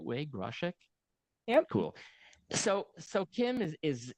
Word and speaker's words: Groshek: Kim, am I pronouncing it the right way, Groshek?